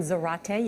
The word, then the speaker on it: Zarate: that's exactly right juan zarate you can always remember how to pronounce juan's name it rhymes with karate right i think you